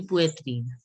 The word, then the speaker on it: poitrine: Yeah, it's the T sound should not be there. It should be poitrine.